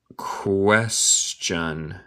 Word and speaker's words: question: But the great question is. But the great question is. Gracias, Carlos. Pero el gran pregunta es. But the great question. Escuche mi pronunciación. El T suena como CH. Question.